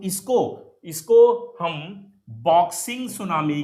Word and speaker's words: tsunami: तो T actually यहां पर जापानीज में टी साइलेंट होगा, तो इसलिए इसको सुनामी नाम दिया गया।